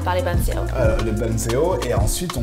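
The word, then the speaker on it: bánh xèo: Banzeo, ça c'est la prononciation viette.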